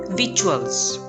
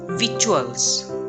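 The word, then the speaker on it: victuals: The first one is visuals. Notice the silent C. T is pronounced as ch. Visuals.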